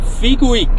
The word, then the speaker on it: Figuig: drauf der nächste Posten Kern von figuik so spricht man es aus habe ich den Polizisten gefragt so geschafft jetzt hab